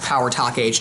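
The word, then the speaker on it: Pow R. Toc H.: versus on here talk H and yes it's pronounced Power Talk H not Power Talk track three is take up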